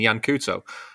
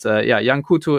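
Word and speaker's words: Yan Couto: But Jan Couto is... Jan Kaut, I think, is how you actually pronounce him, but I get it wrong all the time.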